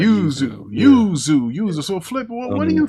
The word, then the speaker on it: Yuzu: How do you pronounce that, Lavon? Yuzu emulator. You're saying it right. Yuzu.